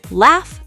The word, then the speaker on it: laugh: For gh as f. Laugh. Tough. Rough enough. Cuff. For silent gh, though, through thought, daughter, night, high.